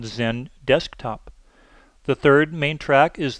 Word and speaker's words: XenDesktop: Now, all of their products that start with an X actually are pronounced with the letter Z in front. The second main track is the Desktop Virtualization track called XenDesktop.